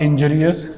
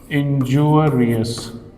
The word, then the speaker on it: injurious: And when it becomes this word, there will be a slight change in the pronunciation, and it will be not injurious, it will be injurious.